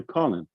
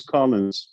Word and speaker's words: Collins: uh colin's uh part is it collins with an s or colin no s or not because that's how you spell it most people call you calling let's make a correction everybody use collins okay that's what i